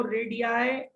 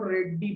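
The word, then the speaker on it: radii: रेडियाई है वो रेडियाई Hindi medium वाले बच्चे इसको रेड्डी पढ़ते हैं, रेड्डी। रेडियाई, no offence for the Hindi medium school, it इज the fault of the teachers जो उनको करेक्ट प्रोनाउंसिएशन नहीं सिखाते।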